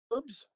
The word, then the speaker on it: herbs: Herbs? You drop the H. You just call it herbs.